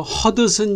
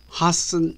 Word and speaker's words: Hudson: 다른 됩니다 뉴욕의 가며 한국에서 허드슨 이라고 발음되는 hudson 이라는 철자를 가진 단위 있습니다 단어 속에는 들으라는 폐쇄 파일이 이미 있습니다 바로 뒤에 자음 요 입니다 그러므로 태세 만다고 파열이 되지 않습니다 이제 짐작이 되시나요 하 쑨 이라고 발음합니다 그러면 한국에서도 많이 사용되는